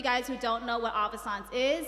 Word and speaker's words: Avaissance: the air on pronunciations it's avisons like Renaissance and you know if